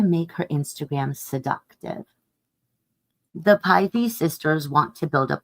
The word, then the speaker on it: Pi: The slip of paper in Maddiey's envelope tells her she's been picked by Pi Betafi, known as Py, pronounced Py, a perfectly respectable sorty, but not generally considered a top house on campus.